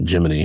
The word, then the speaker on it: Gemini: It's like it's going to evolve from the original Jiminy into Gemini.